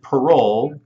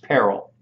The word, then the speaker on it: parol: the peril evidence rule if you read this in the book and thought it meant parole you're wrong it's pronounced peril it's not even a